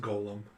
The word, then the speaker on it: golem: yeah it's a golem it's pronounced golem oh is it okay i was thinking of g-o-l-e-m gollum has a u in it okay you're a